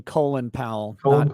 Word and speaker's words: Colin Powell: in history you call him by the proper pronunciation colin powell yeah yeah that's how he pronounced it you